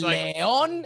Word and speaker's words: Lyon: It's Leon.